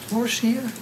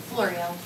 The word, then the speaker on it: Florio: Florcia? Florio. Okay, thank you. I'll get you to correct the pronunciation, please.